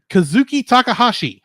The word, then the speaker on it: Kazuki Takahashi: I can't pronounce this. Kazuki Takahashi.